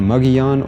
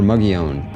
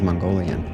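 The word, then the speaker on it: Mogollon: mugon rim is typically mugon or mugon it is often mispronounced by tourists as Mongolian at least I didn't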